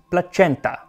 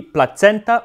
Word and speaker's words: placenta: pronunciations it would be placenta or placenta with a soft seed just like we say caesar but many reconstructive linguists believed that a c was always pronounced as a k in old latin so it would be